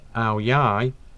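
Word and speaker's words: áo dài: commonly worn by women ao dai pronounced ao yai was once worn by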